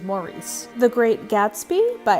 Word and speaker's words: Maurice: that i think that the british pronunciation of this is morris and i just can't get myself there so for me this is maurice the great gatsby by